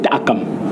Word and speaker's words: Takam: donné à mon père c'est Akam comme ça se prononce dans mon petit village à Penka Michel comme